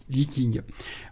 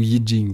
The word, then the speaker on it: Yijing: Ce qui n'est pas le cas dans le Yiking ou Yijing, parce que ça dépend comment on le prononce.